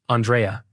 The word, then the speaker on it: Andreja: It should have been pronounced Andrea, but some illiterate American voice actor never heard of such Slavic name.